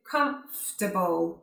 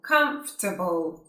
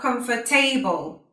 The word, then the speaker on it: comfortable: The same with comfortable, comfortable. 3 syllables, not comfortable, okay?